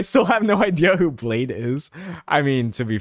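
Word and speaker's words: Bladee: Uh, but Blade, because he has two E's and Blade frequently gets called Bladey.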